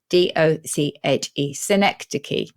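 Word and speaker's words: synecdoche: it's exactly and it's very close to um zenecticus how Oxford would tell you to pronounce it so this is s-y-n-e-c-d-o-c-h-e synecdicky and this is uh similarly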